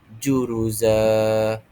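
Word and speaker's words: جُرُزًا: Cara bacaannya kita anggap satu baris sahaja dan kita panjangkan dua harakat. Kita anggap dia sebagai fathahlah. Okey. Jadi cara bacaan yang betul ialah juruza, juruza, juruza, dua harakat sahaja.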